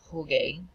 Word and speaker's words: jugué: pronounce it jugué, and we need to maintain that hard G sound. So the U helps us do that, turns into jugué.